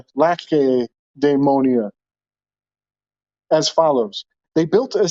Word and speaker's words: Lacedaemonia: I think that it's a hard C. Lacedaemonia.